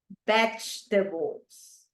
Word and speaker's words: vegetables: Number 7, listen carefully because this is a tricky one. Vegetables. Vegetables. Once again, vegetables. Notice that the stress goes in the first syllable.